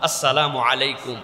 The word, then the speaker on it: আসসালামু আলাইকুম: সাথে সালাম দাও আর সালামের বিশুদ্ধ উচ্চারণটাও শিখে নাও সালামু আলাইকুম সুন্দর না শুনতে বিরাট বিরাট লোকজন দেখবেন এরকম করে সালাম দেয়লাম কি যে বলছি আমরা বুঝতেছি না আমরা অথচ এটা একটা সুন্দর কথা আসসালামু আলাইকুম এইটুকুই এর বেশি পারলে